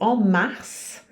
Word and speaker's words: mars: a mês de março Mars você pronuncia o s é uma exceção no sentido que aqui